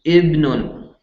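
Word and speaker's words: ابن: So ibnun. But here's the thing. If you're starting the beginning of a sentence, you're going to say ibnun.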